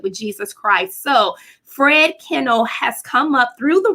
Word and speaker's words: Kienle: It's pronounced Kienle, but I always tell everybody you could call me anything but late for dinner.